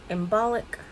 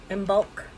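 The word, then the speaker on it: Imbolc: on Bridget day on embolic um no didn't say that right in bulk that's how you say it um February 1st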